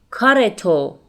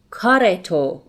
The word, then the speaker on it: کارتو: Note that again here, رو comes after a consonant, which is a T sound here. So, in spoken Persian, we pronounce it کارتو. کارتو.